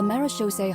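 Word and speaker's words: Marechaussee: played host to a group known as The marose Hunters oh that's how you pronounce it marish Mar marish okay though that was their name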